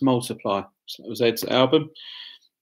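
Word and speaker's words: ×: by Ed Sheeran was X which is pronounced multiply so that was Ed's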